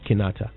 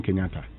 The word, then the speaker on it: Kinata: h unite virtual concept how do you pronounce this guy's name kofi what kinata kanata yes and you kept doing kenyatta did i say kenyatta yes oh wow that was a slip okay it's kinata isn't it it's a it's a